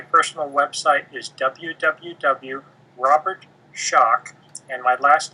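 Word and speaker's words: Schoch: my website my personal website is www Robert shock and my last name is spelled s h o c so it's r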